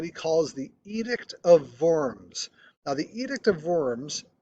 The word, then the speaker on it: Worms: to the city of forms the w is pronounced like a v um to summons him to forms in 1522 excuse me